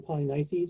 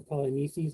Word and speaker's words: Polynices: at the beginning of the story, Eteocles and Polynices, or Polynices, I've heard it pronounced both ways, and the daughters, Antigone and